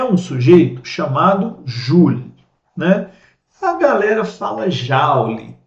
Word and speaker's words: Joule: Se você ler o nome dele em português, você vai ler Joule, né? Mas a galera fala Joule, porque a gente pegou emprestado aí essa pronúncia provavelmente aí das primeiras publicações em inglês que chegaram até aqui, e possivelmente as pessoas tiraram de lá essa pronúncia.